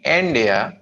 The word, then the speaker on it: India: No, India नहीं, India. N को लंबा खींचेंगे, Dia को छोड़.